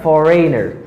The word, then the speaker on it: foreigner: and here i have foreigner foreigner i i have foreigner because the letter g is silent in this word foreign and after the